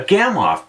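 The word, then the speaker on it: Gamow: A Gamoff bag, pronounced Gamoff, was invented by Igor Gamma, in the late 1980s and has saved a lot of climbers from dying of hape.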